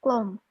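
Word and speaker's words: กลม: Di sini di pertengahannya dia O ya. Kenapa di pertengahan? Karena ini dua memang konsonan ganda, nggak bisa dipisah. Gitu. Ini udah pasti bersuara O. Gitu. Jadi dia bunyinya klom, artinya bulat.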